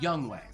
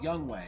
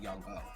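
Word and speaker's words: Younghoe: and yes it's pronounced young way i i was today years old when i learned that it's actually pronounced young way not young so hey we all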